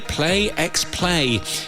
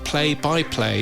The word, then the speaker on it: Play X Play: Play X Play is a new editorial show. It's probably pronounced play by play, isn't it?